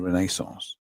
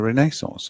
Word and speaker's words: Renaissance: And I said, "Oh, you mean the Renaissance?" They go like, "Why did you say why do you say it like that?" I said, "It's the Renaissance." I said, "If it's a French word, come on."